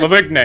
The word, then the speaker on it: Lavigne: Lavigne.